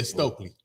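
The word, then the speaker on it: Stuelke: Hannah uh uh for Iowa yeah how you pronounce her last name Hannah shoke what is it stokeley yeah stokeley this girl came to play she did she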